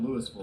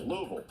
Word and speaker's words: Louisville: A lot of Kentucky folk out there, people call it Louisville, they're cringing. 85 likes. It's got to be like half a syllable. Louisville.